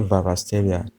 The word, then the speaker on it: Kvaratskhelia: pronounce this name but make that K to be silent and say vasia he's a player we